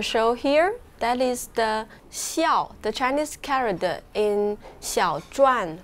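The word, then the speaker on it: 孝: This character is called, it pronounced xiao.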